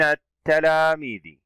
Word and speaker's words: التلاميذ: كلمة التلاميذ، اللام شمسية لأنها لا تنطق، وكذلك لوجود التاء وهو من حروف اللام الشمسية.